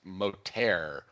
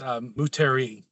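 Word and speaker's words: Moutere: I'm embarrassed to admit that I have always in my mind read it as Moterre, but I guess I just got corrected, I think.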